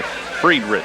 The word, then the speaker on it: Friedrich: Been mispronouncing his name. Number 14 is Jay Friedrich.